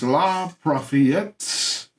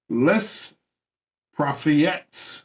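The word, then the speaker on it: Les Prophéties: Catherine de' Medici became one of his foremost supporters, and his very famous La Prophètes. How do you say that? That's a hard word. Where you at? Les Prophètes, the name of his book.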